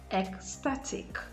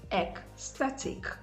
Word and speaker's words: ecstatic: as i said earlier where's the end in ic like ecstatic ec static the stress is on the syllable before the last syllable so you have ecstatic